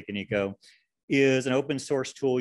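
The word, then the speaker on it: Kaniko: lot of ways finally there's konico canico or canon code depending on how you say it i say can eco is an open source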